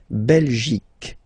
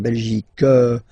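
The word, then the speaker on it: Belgique: okay La belic okay remember here you will get only the sound okay belic belic so it's not belgic not at all okay because it's only the belic okay Denmark so same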